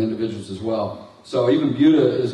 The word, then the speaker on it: Buda: It's pronounced Buda, by the way. We're a little sensitive about that.